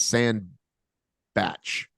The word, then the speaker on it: Sandbach: and sbot is it sandbach soundbot sandbach how do you say his last name it's sand it's sand batch he corrected me when I asked him